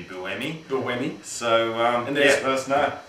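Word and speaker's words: Buemi: I remember last year we were saying boomy and it's actually Bui Bui so um let us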